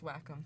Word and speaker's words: Wacom: and I asked them how you pronounce Wacom and its lack of its welcome yeah welcome welcome it's like the Japanese